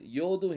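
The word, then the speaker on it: יה: right சைடுல என்ன இருக்குது யோதும் ஹேய் இருக்குது யோதும் ஹேயும் நீங்க எடுத்தீங்கன்னா அது வந்து யா அப்படின்னு சொல்லி உச்சரிப்பு வரும் அது யாருடைய பெயர் யெகோவா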